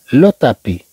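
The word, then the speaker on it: le tapis: لو تابي، تا، تا، لا نقول هنا تا، ما غنقراوهاش لو تابي، لو تابي، بل نقول لو تابي، طبعا حتى في النطق تأتي أحسن، إذا نقول لو تابي، طبعا لا تنطق هاد الاس كما ذكرنا.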